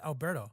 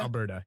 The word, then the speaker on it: Alberta: and so i uh calgary that's up in alberto right is that how you pronounce that alberta alberta yeah yeah and it was